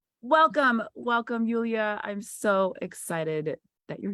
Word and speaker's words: Yulia: So, Yulia, is that how you pronounce it?